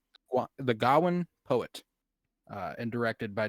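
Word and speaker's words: Gawain: to reset my brain when remembering how to pronounce gowin gowin g gowin gowin go is It Go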